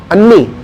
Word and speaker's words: Anni: ANNI, कितने बार एन है? Triple N, double A, कैसे पढ़ेंगे इसे? प्रोनाउंस कैसे करेंगे? अन्नी।